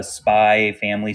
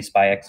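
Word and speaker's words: Spy × Family: to go see the Spy family spyx family yeah movie they get mad at you when you say spy X don't say X how Evelyn says it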